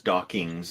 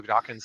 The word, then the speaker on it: Dawkins: pronounced mispronounced it as dockings but a lot of people do that and so yeah it's important people remember when mentioning Richard Dawkins name it ends just with NS not NGS so just just keep